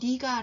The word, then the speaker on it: 네가: 여기서 내가 웬일이야 라고 하는데 일상적으로 말할 때 내를, 너라는 의미의 내를 니로 발음하는 경우가 훨씬 많아서 제가 쓰기는 내가 라고 썼지만 발음을 니가 라고 했습니다.